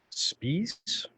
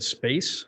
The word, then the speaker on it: Spies: It's Zoe Spies. I said space, so that sounds very strange.